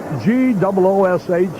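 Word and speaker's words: Gwosdz: have this name spelled G-O-O-S-H, the phonetic spelling, rather than all the S's, W's, and Z's? Gives him some character, though. G-W-O-S-D-Z is the spelling, but it's pronounced Goosh.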